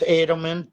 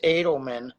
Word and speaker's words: Edelman: I'm still stuck on Dan Edelman's, and it is pronounced Edelman. Don't correct me. It's Edelman. Do not correct me.